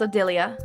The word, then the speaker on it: Odalia: Oh, I think it is pronounced Odalia. I've been pronouncing it wrong.